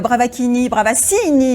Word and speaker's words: Bravaccini: On va accueillir tout de suite notre troisième invité, Bravaccini, c'est comme ça qu'il faut qu'on prononce.